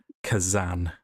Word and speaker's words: Khazan: Carved into the lintel above the door is a word, Kazan, which is spelt Khazan.